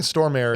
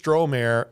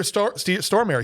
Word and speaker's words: Stormare: Or maybe he says Stormare. I think Stormare is how it's said. All right. We used to say Stromare, and people got mad at us.